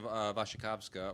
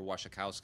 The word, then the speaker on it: Wasikowska: recent one uh starring Mia vasakova or wasikowska or vasaka however you want to pronounce it depending on how polish you are um I know